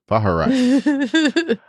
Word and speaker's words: Vaharai: Yeah, and for him, and of course, him reaching his Vaharai. Baharai. I almost gave it another syllable there. Vaharai.